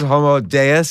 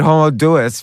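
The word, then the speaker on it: Homo Deus: you that you discuss deos deos like God okay I stand corrected homo deos is that right yes homo telling everyone to read homo deis but uh I'm wrong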